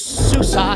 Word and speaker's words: Sousa: It's Sousa, say Sousa, don't let the name confuse ya. It starts with Sue and ends with Sa, now doesn't that amuse ya?